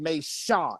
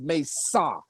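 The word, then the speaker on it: मेष: It's not pronounced Mesha. It's pronounced Mesa.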